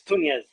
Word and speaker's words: Tunez: Yeah, it's like Nunez but with a T instead of Okay. an N.